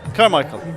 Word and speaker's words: Carmichael: How do you pronounce it? Carmichael? Carmichael.